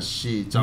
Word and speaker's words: Xi: 係佢 XI 唔識發音係 she，唔識。